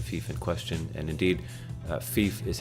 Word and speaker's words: fief: browse to the thief in question and indeed thief is how it's pronounced not 5 so you find the one